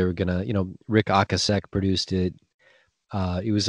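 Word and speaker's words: Ocasek: like recording with rick o'kasick from the cars and he's like actually his name is pronounced rick akasek wow so there you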